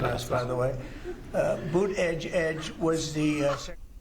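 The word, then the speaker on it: Buttigieg: they say is the best way just say two edges like off the edge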